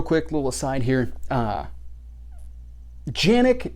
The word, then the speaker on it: Canik: little aside here uh yannick as far as i understand is the proper pronunciation however the more common pronunciation is canik and at this point